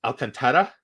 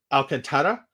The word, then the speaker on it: Alcantara: Franco, and Florida signing Avi and, is it pronounced Alcantara? Alcantara, signing him to an extension.